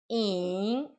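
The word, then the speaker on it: 影: A maneira de se pronunciar in, olha, é um pouco difícil porque é um terceiro tom. In, Y-I-N-G, Y-I-N-G.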